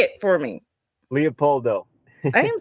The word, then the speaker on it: Leopoldo: And I'm glad I heard you say it, because I was pronouncing it completely not Leopoldo. Say it for me. Leopoldo.